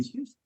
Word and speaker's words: Houston: street in New York, which is spelled Houston, like the city, Houston. So it looks like it should be Houston, except that's not what it's called. It's called Houston.